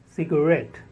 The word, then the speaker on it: cigarette: nineteenth word is cigarette cigarette the stress on the second syllable red cigarette the next twentieth